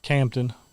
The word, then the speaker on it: Compton: we did it uh is it pronounced Compton or Campton over there Campton yeah Jr Rock and